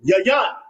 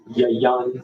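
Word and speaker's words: יין: Yan. Yan.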